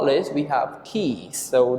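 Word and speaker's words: quiche: Last but not least, we have keys. So this word is a little bit difficult to pronounce. It sounds okay. Key. Keys. It's from the French words.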